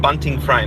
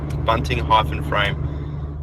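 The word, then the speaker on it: Bunting-Frame: we go hi Jeff you say my surname bunting frame that's how you pronounce it bunting hyphen frame uh it's an amalgamation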